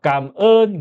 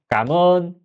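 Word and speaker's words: cảm ơn: 그래서 발음은 감은 이거요. 깜은. 이제 빠르게 말하면 까은 내가 예를 들어서 호텔에 가잖아요.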